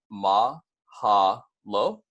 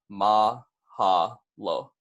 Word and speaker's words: mahalo: is dead and then Mahalo is going to be pronounced mah haah lo so if you guys want to repeat it back with me that's gonna be mah haah lo and then in addition